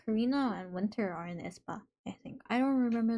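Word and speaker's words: aespa: Isn't Esper a K-pop group? Isn't that Espa? A E S P A.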